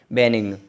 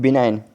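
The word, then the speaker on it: benign: बेनिग्न। बेनिग्न, बिनाइन, sorry बिनाइन है, sorry दोस्तों।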